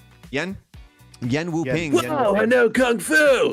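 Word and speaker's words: Yuen Wo-ping: Yen Wu-ping.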